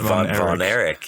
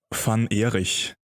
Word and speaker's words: Von Erich: the German name that is not pronounced, like that's not how you pronounce that name, just to, to give everyone the clarification. How would it be pronounced properly? Van Erich would be the correct pronunciation in German of that name.